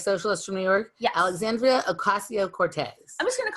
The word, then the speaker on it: Alexandria Ocasio-Cortez: Alexandria Ocasio-Cortez. So there's no, Cortez is her name. And the Democratic Socialist from New York? Yes. Alexandria Ocasio-Cortez.